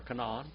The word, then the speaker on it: Canaan: Way yonder over there in the land of Canaan, or Canaan, if you want to say it correctly, what did Abraham feed the angels and Jehovah?